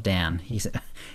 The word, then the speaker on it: Dan: Steed, who calls himself Dan. His first message was, "I'm Dan, like Dantooine, but the tooine is silent."